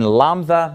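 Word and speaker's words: λ: hard sound and then lumba makes the L sound so these are not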